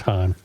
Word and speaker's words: Hann: I think it's Han. No, it might be. No, it's Han.